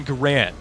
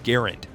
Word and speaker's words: Garand: World War 2 weapon this is the m1 garand or if your pronunciation is based upon the inventors name the m1 garand this is that iconic